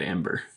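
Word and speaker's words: Æmber: yeah so I'm thinking this thing it says pronounced Amber we're in a Wikipedia article at least because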